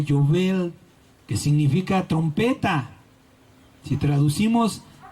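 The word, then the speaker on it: יובל: con la otra amén el jubileo en hebreo se pronuncia jovel que significa trompeta si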